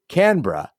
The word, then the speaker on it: Canberra: another shrimp for you Gene three Canberra degree of difficulty five out of ten pronunciation score six out of ten phonetically this is Canberra also relevant given the sidebar on bras during